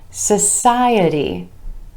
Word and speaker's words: society: 2 syllables with emphasis on the O sound in the first syllable. Social becomes society, society, with emphasis on the I vowel sound right before our suffix, society.